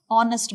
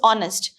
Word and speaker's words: honest: this word okay so h is silent here not honest it is